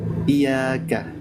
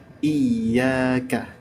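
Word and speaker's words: إياك: makna keumumannya seperti itu Jadi dibacanya adalah jangan iyaka tapi iyaka iyaka gitu ya terus yang lahan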